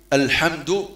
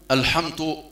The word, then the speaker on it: الحمد: الحمد تحقيق حرف الدال، الحمد تحرص على نطق الدال دالا، يعني ترققه دون تفخيم، فإذا فخمت الدال واش يولي؟ يولي طاء، وتولي تقول الحمد.